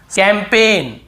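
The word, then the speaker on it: campaign: है यहां पर भी कैंपेन काम पे एन कैंपेन यहां पर भी जी साइलेंट है कैंप पे फॉरेन ऐसे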